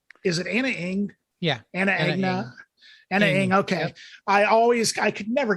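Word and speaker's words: Ana Ng: And what's the correct pronunciation of it? Is it Anna Ing? Yeah. Anna Ing.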